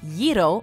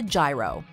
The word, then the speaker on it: gyro: The Y in the next food item on our list may initially throw some people off, but the actual way to pronounce this classic Greek delicacy is to say gyro as opposed to gyro.